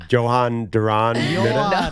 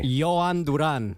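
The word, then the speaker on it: Jhoan Duran: you guys think I should do a a Johan Duran? Johan. It's much easier than you're making it out to be. Just phonetically write it down. Say it, Manny. Yoan Duran.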